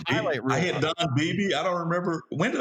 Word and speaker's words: Beebe: that hit against Don Beebe, or how you pronounce the guy's last name, the guy for the Bills, the old receiver. Yeah, Beebe. That's right. Yep, Beebe.